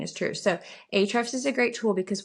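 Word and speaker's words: Ahrefs: So a great tool that I really love using is called Hrefs. It's spelled A H R E FS.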